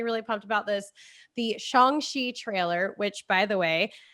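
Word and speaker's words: Shang-Chi: pumped i'm personally really pumped about this the shongxi trailer which by the way i looked at the pronunciation and i'm just copying feige so yeah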